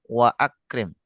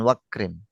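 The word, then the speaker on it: وأكرم: Kalau misalkan antum kasih wawu tetap waakrim waakrim nuzulahu wawasi madkahu itu wa akrim bukan wakrim.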